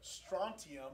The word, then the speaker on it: strontium: Strontium? Is the T silent also? How strontium? No, it's there.